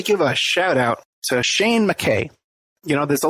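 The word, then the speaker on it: Sein: over to Ireland, to Shane McKay. It's spelled S-E-I-N.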